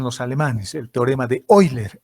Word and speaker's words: Euler: El teorema de Euler, o como dicen los alemanes, el teorema de Euler. EU se lee como hoy en alemán, o se pronuncia como hoy.